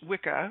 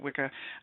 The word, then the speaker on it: wicca: I've looked up the etymology of witch and wizard, and witch is from Old English Wicca, or we pronounce it Wicca, which is female magician or sorceress.